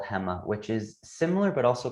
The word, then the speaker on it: Hema: your time in alibaba's i think i'm pronouncing it right hema right yep yeah that's exactly like that's exactly right so yeah the alibaba